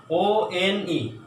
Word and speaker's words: one: Then one, O-N-E, one. O is pronounced as wa.